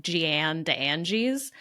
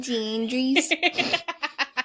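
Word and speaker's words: Jeanne des Anges: Her name spelled out, we might pronounce it as like Jeanne d'Anges, but I'm really trying to maintain my pronunciation here, so we're just going to call her Mother Jean.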